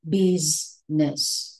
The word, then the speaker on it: business: to talk about business don't say business please pronounce it as business busness right business please remember and if you don't